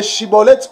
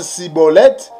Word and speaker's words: Schibboleth: le groupe des galadites donc si tu n'arrives pas à bien prononcer chibolette tu prononces siibolette cela veut dire que tu es un étranger ça veut dire que